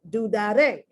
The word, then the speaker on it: dudaré: You can hear it, dudaré. I'm putting the accent on the last syllable.